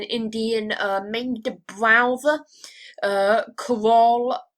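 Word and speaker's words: Kerala: uh main browser uh karol i believe is the way that you pronounce it uh the place that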